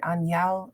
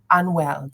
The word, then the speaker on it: Anuel: Anuel. Anuel. Thank you, Anuel. Anuel. Hey, hey. It might have been someone like that. I So think of it eventually, like Emmanuel, but like with a, like Anuel.